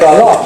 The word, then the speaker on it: galop: And a galop is a kind of dance, which as you maybe can guess because it sounds like the word gallop or fast dance.